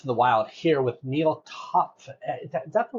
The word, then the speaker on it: Neal Topf: All right, another episode of CX in the Wild here with Neal Topf. Is that the right? You pronounce it beautiful.